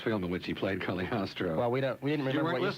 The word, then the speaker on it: Cagliostro: Well, you've got the first syllable right. Cagliostro. Cagliostro.